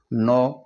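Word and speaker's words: know: और के एओ डब्लू यहां भी एन से पहले के आ रहा है तो के को हम साइलेंट रखते हुए एन ओ डब्लू नो का हम उच्चारण करेंगे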